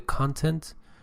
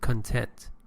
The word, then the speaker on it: content: When it is used as a noun, it refers to the building blocks of something. You usually put the stress on the first syllable. The content, you said content, and mechanism, first syllable,